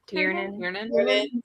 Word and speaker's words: Tiernan: say her name again turn in tiernan like tier list like i'm tearing a piece of paper you're in a piece